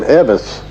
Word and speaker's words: Elvis: that had ever lived Vernon for some reason always pronounced Elvis's name Evis and Lefty L out he said Evis Aaron Presley and that's what Dr